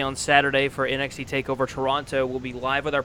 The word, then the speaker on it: Toronto: And then obviously right after NXT TakeOver Toronto, we will be, Toronto. That's how you say it. It's not Toronto. Toronto. Toronto. Yeah, that's how you pronounce it.